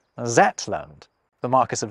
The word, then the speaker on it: Zetland: Yoch at the start, a letter that's frequently misread as a Z. Hence, the name of Shetland is sometimes recorded as Zetland. The Marquess of Zetland is actually still an official title.